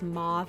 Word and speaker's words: mauve: a taupe mauve okay I normally pronounce this as mauve I have no idea why I'm saying mave I think I'm just